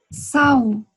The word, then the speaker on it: sal: Recuerda que yo les dije que L, el final de las palabras, se pronuncia como si fuera U. Entonces, sal, sal.